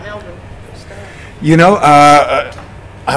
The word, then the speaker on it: Melbourne: And that was part of the, you know, I'm here in Melbourne, and then I'm saying it right, Melbourne.